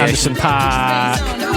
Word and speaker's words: Anderson .Paak: Correct pronunciation. Anderson .Paak with Come Down, NU Up and Nick Studer remix.